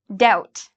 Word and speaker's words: doubt: of our other words doubt again uh if you like the band no doubt okay with Gwen stavani her old band you don't have to worry because you don't pronounce the b it's just doubt this